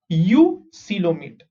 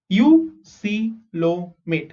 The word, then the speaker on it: eucoelomate: Next, eucoelomate. Okay, how do you pronounce this? EU is U, C is C, LO is low, MAT is mate. Eucoelomate.